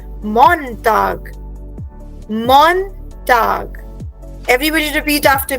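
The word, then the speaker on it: Montag: everybody repeat this woken टागर okay Ursula now let's start with the very first word for मंडे in German we से मॉनटाग मॉनटाग everybody repeat after me या मॉनटाग सो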